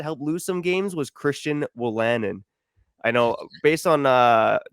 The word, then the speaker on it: Christian Wolanin: Christian Wolanin.